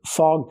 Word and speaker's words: fogged: Pronunciation is important. Get fogged up. We have to use the a sound like call and ball. Fog. Fogged. We have to use the voiced gg- sound. Fog plus the voiced d sound.